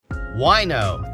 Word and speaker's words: Wineaux: Wino, that's spelled Wineaux, is the latest rage for wine lovers and the vino curious around the valley.